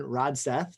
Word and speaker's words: Rodseth: So glad to be here today with Rodseth. Did I pronounce that correctly?